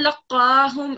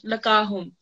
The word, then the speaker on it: لقاهم: Well, that's true for the vertical fatha, But the thing that you did was that you didn't give qaf an emphasis. So it has shadda.